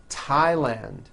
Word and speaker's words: Thailand: words and names are spelled with a th they are pronounced as if they were spelled with with a normal T TT like that and these words are Thomas Thompson Teresa Thailand TS like the river